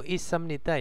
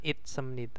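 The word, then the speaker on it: 있습니다: jago is nid jago isemnida Ya ini bacanya isemnid bukan itemnid nah terus Cup is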